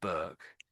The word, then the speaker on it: Burke: So that's how that surname is pronounced, Burke.